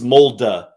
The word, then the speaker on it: Molde: I had a couple people actually tweet at me, Sia, the mold one, it's Molde.